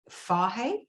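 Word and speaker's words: Fage: sweden yeah yoghurt called f-a-g-e oh apparently it's pronounced fahey yeah is it yeah yeah we only know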